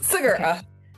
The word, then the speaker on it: Segura: And on this author spotlight, I am welcoming author Sigura. Did I pronounce that right? Yes. Sigura. Sigura.